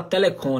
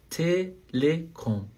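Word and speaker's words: Telekom: falar ó Lembrando que a pronúncia em português a gente fala Telecom né muita gente fala Telecom mas em alemão é o e fechado tá Telecom Telecom então good ou Inclusive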